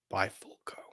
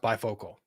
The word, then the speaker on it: Bifolco: we have is Dr bifolco like it it's pronounced bifocal but it's bifolco it killed me it's